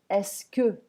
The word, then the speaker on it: est-ce que: So the pronunciation is est-ce que. Think of desk.